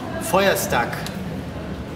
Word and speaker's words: Feuerstack: I'm just wondering, how do you pronounce this name? Feuerstack.